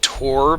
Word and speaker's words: Thor: film whatever also yeah Thor is pronounced Tor but whatever that's how